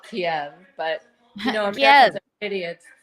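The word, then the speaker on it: Kyiv: with I love that they call it ke now when they used to call it Kiev but you know idiots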